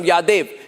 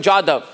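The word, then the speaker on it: Jadhav: pronounce his name well don't say y don't give me a Pakistani pronunciation of Yad buan jadav whatever it is we don't care what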